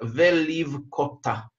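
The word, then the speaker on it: ולבכתה: Это слово читается «веливкота». Так мы ее и читаем, так мы его и понимаем.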